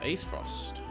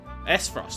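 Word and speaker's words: Aesfrost: You learned about the Grand Duchy of Acefrost. Esfrost.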